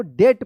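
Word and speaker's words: debt: डी ई बी टी क्या पढ़ेंगे इसको? डेट पढ़ेंगे। देखिए यहां पे एम नहीं है। फिर भी यहां पे क्या है कि बी साइलेंट है। क्या पढ़ेंगे इसको? डेट पढ़ेंगे। डेट ध्यान रखिएगा आप।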